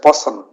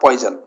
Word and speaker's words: Poisson: poissonian distribution okay and keep in mind to pronounce it as person it's not poison okay so because many